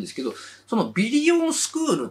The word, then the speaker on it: ビリオン×スクール: て書いてけどビリオンかけスクールって書いてあるんですけど読む時はビリオンスクールって読むじゃないですか